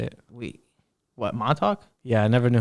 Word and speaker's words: Montauk: oh that's how you say it we what montauk yeah i never knew how to do it